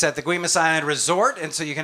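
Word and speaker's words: Guemes Island: We go to item number 3, which is a getaway over on Guimas Island. That's right, Stephen. You pronounced that correctly. You must be a Northwest native.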